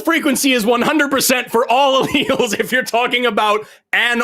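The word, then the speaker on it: alleles: you're screaming about alls it's pronounced alals first just just we'll start there they're alals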